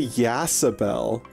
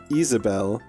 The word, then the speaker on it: Isabel: I want to say Yasabel because it's spelled like Yas. Isabel. It's Isabel. But is Isabel a Ridgeside person?